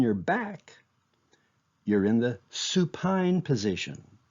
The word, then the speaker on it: supine: back you're in the Supine position think of supine rhyming with spine if you're on your